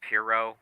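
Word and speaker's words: Pierrot: much um by the way we know it's pronounced Pirro Studio Pirro we just called Pierre Rod or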